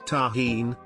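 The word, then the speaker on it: Tajín: Not sure if you will be able to find it, but there is a seasoning mixture called tahine, pronounced tahine, that just amps the flavor of mango emo.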